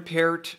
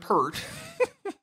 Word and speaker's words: Peart: yeah this is e-r-t is Peart one syllable here that's that's how I look at it we we've been going over this the last couple of weeks my long and winding road as far as coming to grips with Peart I start a parrot or see I started pert then finally kind of tried to go it appeared accepted peered then you're telling me that it was pert again so I'm like okay